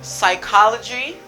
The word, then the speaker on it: psychology: cake let me go with you school schedule psychology chaos stomach cake sex tech tech technology technology